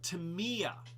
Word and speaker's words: Tamiya: did that so uh dusty cat says uh pronounced tamiya tamiya okay tamiya all right well uh and